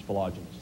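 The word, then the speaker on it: philogynist: Correct pronunciation is philogenist.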